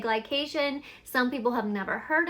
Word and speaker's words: glycation: And when I say glycation, some people have never heard of that, or even like, what is it? To me, I'm like, it can't be a bad thing, it rhymes with vacation, but actually glycation is